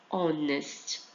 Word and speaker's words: honest: E o honest tem som de O, honest.